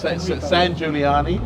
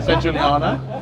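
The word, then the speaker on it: Sangiuliano: also, Enrico, I can't remember his I can't pronounce his surname. Enrico. But he is a really nice San Giuliani. Yeah. San Giuliano.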